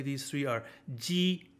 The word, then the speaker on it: ji: So G is like jeep, chi is like cheap, and X is like sh in sheep. So they're kind of like lispy sheep, like she, chi, ji, ji, chi, she.